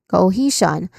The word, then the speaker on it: cohesion: Cohesion, you start with the first syllable co, which sounds like go because there's a tip thong O sound here and then followed by the stressed syllable he um you see it with more emphasis.